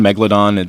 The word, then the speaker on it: Megalodon: find their food yeah megaladon in Downtown LA is it megaladon is that how you say it or is it Meg megaladon Megalodon your emphasis is on a different salal doesn't same thing oh